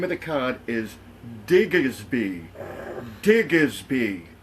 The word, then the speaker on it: Diggersby: And the name of the card is Diggersby.